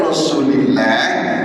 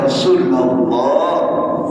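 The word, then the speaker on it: رسول الله: Jadi kalau ada orang baca ya Rasulullah atau ya Rasulillah, salah bacanya walaupun artinya sama. Yang betul ya Rasulullah.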